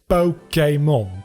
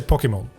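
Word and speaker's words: Pokémon: It's Pokemon, but when I'm just talking, I tend to say Pokemon with E rather than A sound.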